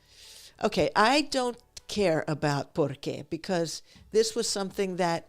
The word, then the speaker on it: por qué: The main difference is that, I guess you have to read this, but one has the emphasis on the second syllable, por qué.